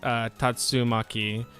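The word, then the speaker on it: 竜巻: Between it's pronounced Tatsumaki, and it's composed by, which is dragon, and to roll up.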